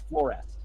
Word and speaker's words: Flores: Oh, it's Florest. Flores? Yeah, like a florist, but like Florest.